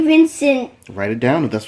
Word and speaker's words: Vincent: I just want to say Vincent. Write it down if that's what you think. Vis? Who's Vis? Come on. What are you writing? You're doing it again. Vincent. Come on. Vincent. Not Vicant.